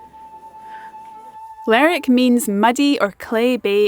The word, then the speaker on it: Lerwick: There's also a bit of a friendly debate about how to pronounce the town's name. Some say Lerwick, others Lerwick. After asking quite a few locals before filming this video, the vote seemed pretty evenly split, so I've gone with Lerwick.